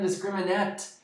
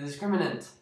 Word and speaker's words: discriminant: I've heard man I've heard even teachers say it wrong. Drives me nuts. Not discriminate. Okay, the discriminant.